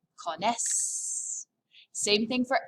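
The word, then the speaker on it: connaissent: one we know yes there's an ent but you remember how french pronunciation works don't pronounce it just say cones same thing for l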